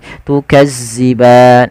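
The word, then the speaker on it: تُكَذِّبَانِ: Hati-hati di dalam hafal huruf zal, jangan sampai kita membacanya dengan bacaan huruf zai, tukadziban.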